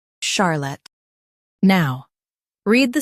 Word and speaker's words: Charlotte: In US, stress char. In UK, stress sha.